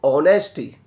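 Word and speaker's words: honesty: जैसे कि यहां देखो दिखने में एच है लेकिन क्या बोलेंगे इसको? ऑनेस्टी। ठीक है? इसलिए एन आएगा।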